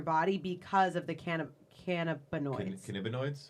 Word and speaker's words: cannabinoids: Cannabinoids? that's right. Yep, Right. you both said it right. Cannabinoids.